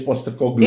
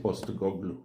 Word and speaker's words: Postecoglou: Ange Postecoglou. Enge Poster. He's Big got David Postecoglou. Postecoglou. Nice. Postecoglou. Australian Greek. Postecoglou. Postecogloulicious. Postecoglou.